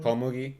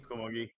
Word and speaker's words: Komugi: Komugi. Komugi. Komugi.